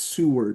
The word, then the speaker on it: Seward: You uh spent your last couple uh collegiate years at obviously Ozarks and uh Concordia's Seward. Is that how you pronounce it?